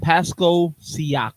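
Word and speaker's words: Pascal Siakam: Paso Pasco Paso Pasco just say his name Pasco seak thank you uh to the Indiana Pacers for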